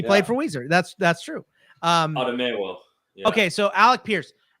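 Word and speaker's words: Otomewo: Otomuo, the big defensive end from Minnesota, went to the Vikings here at this pick. Oh yeah. Otomuo.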